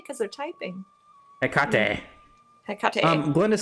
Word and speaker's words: Hecate: You can say, sometimes I've heard people say he cat, and I didn't know what they meant, but he Kate, Hecate. How do they pronounce? Well, they can't say because they're typing. Hecate.